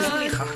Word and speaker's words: Zouliha: C'est Zouliha.